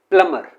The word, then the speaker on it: plumber: ये है प्लम्बर। तो अगेन इसमें बी है वो kept, that is kept silent. इसमें अगेन बी को साइलेंट रखा जाता है।